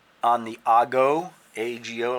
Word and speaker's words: ago: I'm going to put an X on the Ago, A-G-O, like a go, but it's pronounced Ago, and that's the chin,